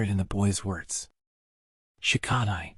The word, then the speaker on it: Shikadai: "Shikadai," he said, putting stress on the last syllable.